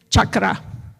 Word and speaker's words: chakra: it is a Sanskrit word and it is chakra so that's how you pronounce it and these are the seven major